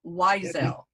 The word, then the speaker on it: Whysel: come up and that's weiselle and the last name is spelled w h y s e l weizel yes ma'am all right